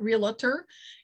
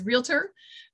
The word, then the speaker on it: realtor: the way side note this um realtor is two syllables it's not real utter it's realtor that's just one of